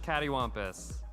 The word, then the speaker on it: cattywampus: at me like that it's pronounced cattywompus no you all know what i'm saying you have to i can't spell it out for you that's not really fair okay it's not d it's tea i feel like i go